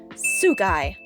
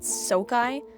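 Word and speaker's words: Souk Eye: First of all, I'm pretty sure this is how Damon said the title of the song is pronounced, so I'm just gonna go with it even though I always pronounced it Sokai.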